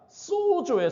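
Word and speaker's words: σῴζω: 여기서 구원이라는 이 그리스어가 소조예요. 소조. 세이유즘이 따라 하시겠습니다. 소조. 소조예요. 소조. 발음 잘하셔야 돼요. 소주 아닙니다. 소조예요.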